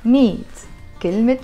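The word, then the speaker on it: مية كلمة: So because it's followed by a noun, we have to pronounce the ta marbuta.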